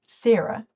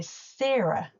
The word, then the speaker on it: Sarah: You might think that my name Sarah would be easy, but I am regularly called Sara, Sara, or even Seda by my students. In New Zealand, we say Sarah. The first part rhymes with cheer.